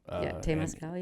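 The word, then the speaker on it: temazcal: We go to a what sweat lodge is called Tamascal. Tamascal.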